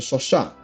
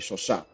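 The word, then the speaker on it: Chauchat: Oh, I found out how this is pronounced. It's the Shoshat because it's apparently it's a French submachine gun, or not submachine. It's a French light machine gun squad support weapon. So because it's made by a French manufacturer, the word here would be pronounced in French, which would be Shoshat.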